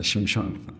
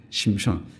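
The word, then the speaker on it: שמשון: 있는이 삼손은 히브리어일까요 아닙니다 히브리어는 따라해볼까요 심효 심입니다 심촌 예 심촌 그럼 우리가 알고 있는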